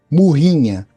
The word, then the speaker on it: morrinha: A gente fala aqui, a gente pronuncia de uma forma um pouco diferente. Nós vamos falar aqui murrinha.